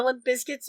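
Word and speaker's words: Limp Bizkit: pronounce Limp Biscuit yes okay you are supposed to say Limp Biscuit okay so you're supposed to pronounce it with the Z okay all right so then biscut Biscuit the emphasis on bis but yeah it's not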